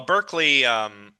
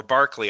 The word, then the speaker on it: Berkeley: Well, Berkeley, or Barkley, I guess is how it's actually pronounced.